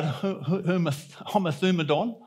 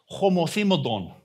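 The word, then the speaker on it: ὁμοθυμαδόν: And this word, well, some say homothymodon, but it's actually probably more correctly pronounced homothymodon.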